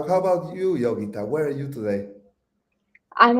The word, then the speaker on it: Yogitha: say your name exactly it's yog you got it right yogita I just need the accent on the Y and Tim sander did